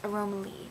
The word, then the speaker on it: Aromaleigh: yeah normally i'm saying they're wrong aromaleigh it's aromaleigh that's how you say it i keep saying